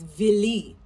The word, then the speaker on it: Vili: In the beginning, when they talk about the Philly, that's not the right pronunciation. It's Vili, right?